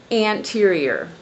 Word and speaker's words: anterior: the first, excuse me, the stress is on the first syllable. So, in other words, we would say anterior.